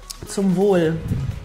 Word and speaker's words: Zum Wohl: Zum Wohl.